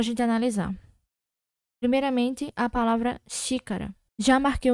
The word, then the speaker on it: xícara: Então, quando a gente fala xícara, o som remete ao som do CH, concorda?